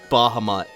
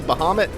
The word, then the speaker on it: Bahamut: I'm sure I'm annoying some people the way I'm pronouncing Bahamut. I think it's supposed to be Bahamut. I've always said Bahamut.